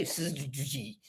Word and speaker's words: syzygy: And the name is spelled, I'm going to spell it first, okay? Yes. SYZYGY.